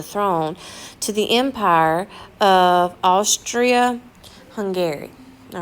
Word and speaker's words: Austria-Hungary: to the Empire of Austria Hungary all right again some people stay hungry Austria-Hungary is how we're going to say it okay and he is